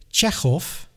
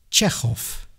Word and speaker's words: Chekhov: For example, we say Chekhov, and although we write a V, we say an F, Chekhov.